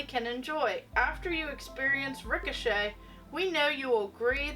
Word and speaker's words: ricochet: how to pronounce it it says ricochet pronounced rick o'shea by micro electronic systems